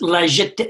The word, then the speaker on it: La Jetée: Yeah, it's La Jetée. I think it's pronounced that way.